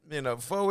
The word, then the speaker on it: pho: And I know I say it wrong. I just say it the way it say it. People they'll say, it's pho.